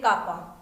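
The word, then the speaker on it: kappa: इट is also called conductivity and denoted by के, कापा, जिसको हम प्रोनाउंस करेंगे कापा।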